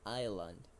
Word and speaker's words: Iceland: and just be careful the pronunciation of that word that is iseland isand iseland thank you okay